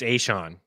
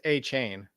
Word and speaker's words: Achane: How do you pronounce his name, Lauren? You're not going to try, Meaney? Nope. It's Achane. It's Achane, by the way.